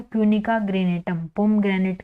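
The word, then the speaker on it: granatum: पूनिका पी यू एन आई सी ए पूनिका ग्रेनेटम ठीक है पिका ग्रेनेटम जी आर ए एन ए टी यू एम ठीक है पिका ग्रेनेटम पम ग्रेनेट का साइंटिफिक नेम होगा ठीक है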